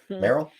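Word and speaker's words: Merrill: is it Morel okay no it's just like the Pokemon Merl Merl uh he he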